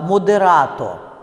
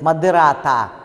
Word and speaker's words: модерато: Иногда, когда слово не общеупотребительное, оно близко к термину, все-таки произносят с безударным «о». Ну, допустим, есть такой термин в музыке, да, «модерато». Ну, не надо его произносить «модерата».